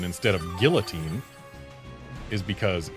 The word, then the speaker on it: guillotine: And yeah, Curbster, the reason we pronounce it guillotine instead of guillotine is because guillotine is the French pronunciation, and it's a French word.